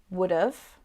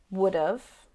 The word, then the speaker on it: would have: again for you so would have becomes would of would of and should have becomes